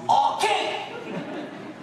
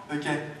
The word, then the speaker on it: hockey: Et on porte attention ici, ça se prononce hockey! Pas ok.